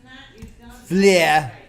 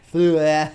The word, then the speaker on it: Fleur: Alrighty, there is our refresher listen to Baguette by Menzie Fleur, as my wife is insisting I pronounce it. Fleur. Fleur.